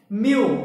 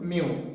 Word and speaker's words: mu: and I told you it is read or pronounced as mu, M-E-W, mu.